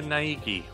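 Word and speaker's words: Naegi: I'll hammer it into your brain right now Niki is that how you say it yeah Nigi Nigi she just keeps repeating my name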